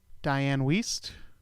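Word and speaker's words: Dianne Wiest: Diane Weiss.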